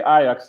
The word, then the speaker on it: Ajax: easy with us grace you can just uh say ayax that's just uh enough you know there you